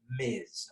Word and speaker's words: Ms: the marital status of that person always use miz okay ms is how we write it we would never write miz but i'm just i'm putting that there so you guys know how it's pronounced okay if you ever had